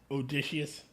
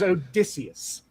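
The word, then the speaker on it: Odysseus: was the fact that they did the other pronunciation of Odysius. Odicious. Odicious. Odicious is like nails on a chalkboard to me. It is Odicius.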